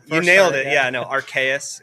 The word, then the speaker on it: Archaius: Yeah, no, Archaeus. It's a Latin word, which is super fun to try to pronunciate.